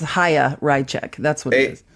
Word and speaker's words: Chaya: It's Chaya. It's Chaya. Adolf Rychek. No, it's Haya. That's what it is. It's Haya. CH, like challah bread. It makes an H, so it's Haya Rychek.